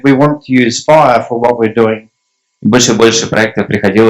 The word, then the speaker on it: FHIR: And you know that in English, FHIR sounds like fire, and I thought that was a pretty poor joke when we first did that.